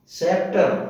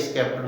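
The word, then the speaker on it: sceptre: इस दूसरा देखिए सेप्टर, एस सी ई, इसके बाद भी एस सी के बाद पी आया, लेकिन यहाँ उच्चारण नहीं हुआ, यहाँ सीधा सेप्टर बोला गया, ये स्केप्टर नहीं बोला गया।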